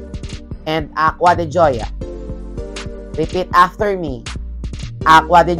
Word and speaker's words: Acqua di Gioia: It's Acqua di Gioia. Repeat after me. Acqua di Gioia. A-C-Q-U-A. Yung Acqua de. Tapos, yung panlalaki is Gio. Pagpamabae, Gioia. Acqua di Gio. And Acqua di Gioia.